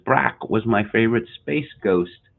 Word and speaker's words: Barack: within the chat mike f says uh canadians mispronounced obama's first name as brac it's brac isn't it again i i i've never heard